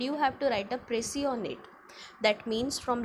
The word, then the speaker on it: précis: Looking at the word, you might be thinking it is precise, but no, my dear student, it is originated from the French word and it has been pronounced as précis.